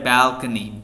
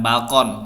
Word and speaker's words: balcony: Next, we had a balcony, bukan balkon ya, it's Indonesian, itu bahasa Indonesia banget tuh. Balcony, bell-nya yang ditekan first syllable. Balcony.